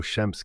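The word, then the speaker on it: شمس: voici une autre lettre très importante qui produit un son comme dans chocolat écoutez bien ch pour la différencié de Sin souvenez-vous qu'elle a trois points au-dessus par exemple le mot Chems qui veut dire soleil répétez après moi Chems prenez le temps de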